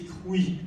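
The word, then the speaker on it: Croÿ: cette famille, bien et que l'on doit prononcer Crouy à la Picarde, bien que s'écrivant C-R-O-Y-Trima.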